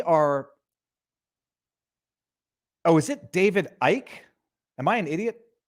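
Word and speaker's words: Icke: on on Twitter and I just saw David dick David dick I was like oh I don't know who that person is but this sounds familiar okay forgiving the stupidity um it's spelled Ike and it's pronounced Ike yes yes yes okay we're gonna have to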